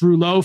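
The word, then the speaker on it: rouleaux: we learn about this roulet formation in medical school I believe it's spelled r-o-u-l-e-u-x um and and we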